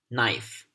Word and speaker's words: knife: as you can see K gets silent before the consonant n so the way we pronounce these words should be me knife knit night knock no